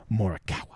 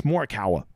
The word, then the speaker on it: Morikawa: Morikawa. Or how the British say it. Can someone please explain to me why the British always call him Morikawa? Like, where the fuck does that second R come from?